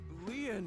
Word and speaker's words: Lien: Lien is spelled L-I-E-N.